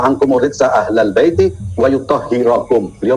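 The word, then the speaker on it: يطهركم: Innama yuridullahu liyudhiba ankum ridza ahlal baiti wa yutahhirakum. Beliau membacanya wa yutahhirukum. Salah dalam membaca. Wa yutahhirakum tadhira. Berarti yang belepotan siapa? Lalu jadi dalam pembacaannya ada yang keliru ya, Pak Eltop? Dia membaca yutahhirakum dibaca yutahhirukum.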